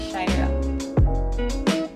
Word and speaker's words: Ciairha: I'm so it's a weird spelling it's spelled as c-i-a-i-r-h-a but it's pronounced as shyra um I think as